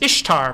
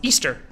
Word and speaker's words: Ishtar: conclusions like this one this is Ishtar pronounced Easter no that is not actually how you pronounce this guitar Easter was originally